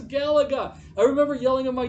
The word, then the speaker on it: Galaga: talking about and going how do you say that gal gah you know like he came up with all these different ways of saying i'm like it's galaga i remember yelling on